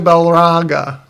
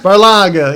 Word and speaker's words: Barlaga: Well, we need to talk to Balraga. Is that the right way to say it? Barlaga? Barlaga, yeah.